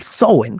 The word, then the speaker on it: Samhain: sabrosón y por oposición, el Samhain o el Samhain, que es la pronunciación correcta, era la noche, era